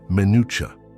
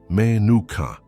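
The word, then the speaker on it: מנוחה: The Hebrew word that defines exactly what is happening to you is minutucha. Pronounce it with me. Menuka. Menu.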